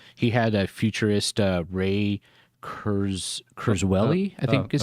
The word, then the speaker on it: Kurzweil: On that Joe Rogan interview I was telling you about, he had a futurist Ray Kurzweil, I think is how you pronounce it. Yeah, Kurzweil.